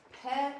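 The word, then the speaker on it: פּ: Pe has to have the P. Otherwise he's Fe. And he makes an F sound instead.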